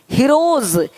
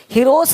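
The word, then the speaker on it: heroes: जैसे कि यहाँ पे रूप्स, यहाँ ज साउंड नहीं आएगा, लेकिन यहाँ पे एक्स नहीं एग्स। हीरोज, हीरोस नहीं, देख रहे हो, रुपीस नहीं रुपीज, ज का साउंड आ रहा है हल्का सा।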